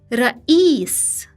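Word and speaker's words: رئيس: Ya is the long vowel e, like the e in English sheep. It is transliterated as 2 i's. Example, Ra'is, meaning a president.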